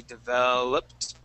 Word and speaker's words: developed: Okay, your top teeth are going to go right on top of your bottom lip.